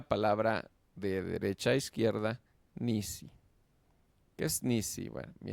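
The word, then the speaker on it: נִסִּי: Ni si lo hacemos así, ¿verdad? Diríamos, pues tenemos dos vocales, tenemos dos este dos sílabas, ¿verdad? Pero por ejemplo ni es uno. Sí, pero aquí se hace nis. Sí, lo correcto es nis. Luego si eso es lo que hace el dagges forte. Nis, no dice ni, no dice nis. Eso es una sílaba. Si la segunda, nis, si. Muy bien.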